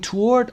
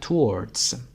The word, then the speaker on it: toward: Toward. استرسش هم قسمت اول. Toward. و تلفظش هم که به این صورته. بریتیش هم بهش یه اس اضافه میکنن و میگن towards.